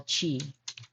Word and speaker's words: qi: In Chinese medicine, the space and air element is covered by something we call chi, qi. The q is pronounced with a ch sound.